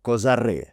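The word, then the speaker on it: Козари: For example, the village of Kozary. I checked — the stress is on the “и.” (Kozarý) And as for Prince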